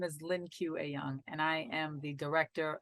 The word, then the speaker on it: Lien Que Ayoung: but tomorrow um I will have Lynn Q pronounce her full name because Cindy cannot so hi my name is Lynn q a young and I am the director of what tomorrow